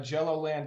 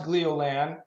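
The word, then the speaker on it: Gleolan: of that right um I tend to to call it uh Jello land too every once in a while but I think it's pronounced glioland um and that's actually the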